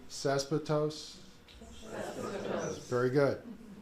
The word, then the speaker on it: cespitose: They are colonial or cespitose, that's the fancy botanical term. Just, you know, to drill the vocabulary home. Everybody say cespitose?